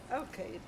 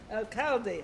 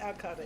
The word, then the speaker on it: Alcalde: I have Alcade. Alcalde. I got to say it right, Alcalde.